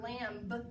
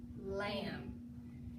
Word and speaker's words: lamb: Sometimes that B is so quiet, and it's quiet like in the word lamb. We don't say lamb, we say lamb.